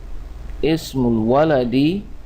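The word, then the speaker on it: اسم الولد: So here we have ismu, but look here, this is Hamzatul Wasli here, and basically we will not pronounce this alif here, so we will say ismul here waladi, ismul waladi Muhammadun.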